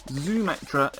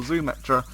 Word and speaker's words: Xumetra: Xumetra is in the same way that Xena the Warrior Princess is pronounced, so that's what they're going to go for, Xumetra.